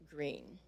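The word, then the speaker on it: Gruene: river cruise and visited Green I always knew that wasn't pronounced like it was spelled special events include our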